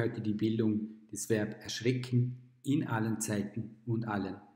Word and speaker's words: erschrecken: Das heißt, erschrecken ist ein starkes Verb. Dann haben wir noch zusätzlich eine Besonderheit bei der Rechtschreibung. Erschrecken schreibt man mit CK nach einem kurz ausgesprochenen E, währenddessen man erschrak nur